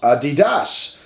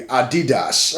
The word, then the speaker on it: Adidas: Adidas is actually pronounced Adidas so when you go to Germany that's how they would say it would be Adidas or something like that